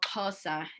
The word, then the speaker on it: Xhosa: we formally started, that the X in our one of our languages in Southern Africa, it's pronounced like a click in the back of your mouth, like the way that you would call horses or train horses.